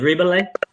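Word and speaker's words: Rebillet: going to see him his last name is rebelling i think that's how you pronounce it r-e-b-i-l-l-e-t i believe that's how he pronounces it yeah it almost sounds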